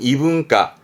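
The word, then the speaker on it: 異文化: 이문화라든가, 발음은 이분과, 이분과.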